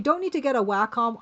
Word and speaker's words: Wacom: You don't need to get a Wacom. I call it a WHCOM. Like now that we're talking about mispronunciations, um, you don't need to get a Wacom.